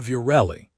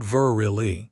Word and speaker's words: Virelli: "I said Virelli," Reese insisted during one lesson. "You said Virili," she corrected, not looking up from the screen. "You just called me a fish."